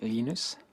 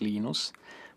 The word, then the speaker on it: Linus: I speak Swedish it's heinous when speak Finnish it's Lino's when I speak English its Linus and I really don't